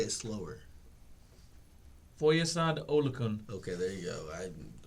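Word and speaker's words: Foyesade Oluokun: Foyesad Olukun.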